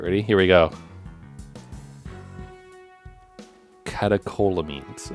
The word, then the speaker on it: catecholamines: Catecholamines, apparently is how it's said.